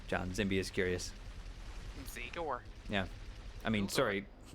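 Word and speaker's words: Zigur: But the country my family is from originally pronounces the language is like, instead of like the U sound, it's like an O sound, so it's Zegor.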